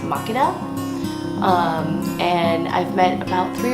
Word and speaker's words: Makeda: coffee was first discovered so we named it mechana coffee and then over time folks from Ethiopia come in and apparently the name is pronounced mock it up and I've met about three or four market